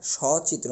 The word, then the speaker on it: সচিত্র: অর্থে দন্তসটি ব্যবহৃত হয়েছে এজন্য দন্তস সর পরে যেটা অ আছে সেটার উচ্চারণ ও হবে না অর্থাৎ সংবৃত্ত উচ্চারণ হবে না আমাদের বিবৃত উচ্চারণ হবে অর্থাৎ অ এর উচ্চারণটা ওই থেকে যাবে বিষয়টি এরকম আর এখানে যেহেতু দন্তস আছে তাহলে এটা মেইন আমাদের নিয়ে আসতে হবে কি আলিবাস নিয়ে আসবো উচ্চারণটা এরকম হবে স চিত্র আমরা তো এখনো অন্ত